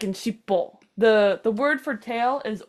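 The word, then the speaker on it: しっぽ: Oh, So but it's shippo. pronounced shitty Shiri as well.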